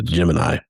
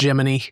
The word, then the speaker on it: Gemini: But I guess it is historically accurate if they were pronouncing it Jiminy. I hate to say it, but yeah, if you go back and look at them back then, the they're they're saying Jiminy.